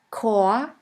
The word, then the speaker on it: Chor: In the German language, the words which normally start with the letter C is pronounced like the letter K. Here we have the word Chor, Chor, which means choir.